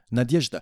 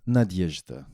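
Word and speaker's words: Надежда: the title hope against hope yeah yeah yeah Nadezhda we say Nadia that's her that's her nickname no no I see Nadia yeah how do you say hope again just give it to me one more time Nadezhda Nadezhda not that that okay so um I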